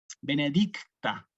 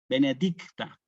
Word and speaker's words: benedicta: benedictictos por ejemplo no nosotros acá siempre decimos que hay que tener cuidado con estas seis Con esta t Aquí benedicta sí obviamente para quien no estudia esto uno no le va a pedir tanto detalle pero para quien sí tiene la posibilidad es bueno que se escuchen las seis y la t benedicta benedicta sí De aquí va